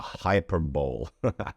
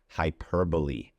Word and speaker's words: hyperbole: A lot of people tend to pronounce this word hyperbole, which to me sounds like a big bowl, you know, a bowl of food that is just gigantic, a hyperbole.